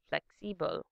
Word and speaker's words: flexibel: In English, flexible. In German, flexibel.